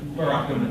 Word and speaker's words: Burakumin: Burakumin natives? Burakumin natives.